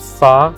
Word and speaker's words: far: We live far, fíjate cómo la R no se pronuncia, sino que se alarga el sonido de la A.